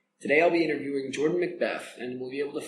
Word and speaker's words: Macbeth: And it's Jordan Macbeth, that's the pronunciation? Yep. Okay, nothing, not make beef or...